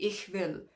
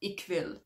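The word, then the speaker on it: ich will: sound as k and it's not a k sound so for example um one of the guitarists is called rihard it's not richard and there's lots of ranch time songs where that sound appears but the easiest example is probably ichvil i want it's not ikvil and it's okay if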